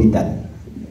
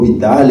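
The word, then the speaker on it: hôpital: euh par le mot hital et je prononcé le H et lapr il m'a dit nonz on prononce pas le H j'ai dit ah bon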